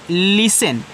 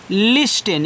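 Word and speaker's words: listen: लिखा है लिसन। लेकिन काफी लोग इसको पढ़ते हैं लिस्टेन। यहां इसका उच्चारण करते हैं भैया। इसका उच्चारण आपको नहीं कहना है इस टी का।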